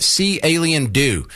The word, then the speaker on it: Caliendo: he said cendo yeah you spell it see alien do and I've have always